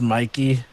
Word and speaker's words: Mikey: I think his name is pronounced Mikey. Sorry, force of habit.